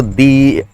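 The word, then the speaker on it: the: आ जाता है कि अगर द के बाद जो आपका वर्ड स्टार्ट हो रहा है, अगर वो उसका प्रोनाउंसिएशन वॉवेल से स्टार्ट होता है तो दो को दी पढ़ा जाता है, तो दी एग्जामिनेशन।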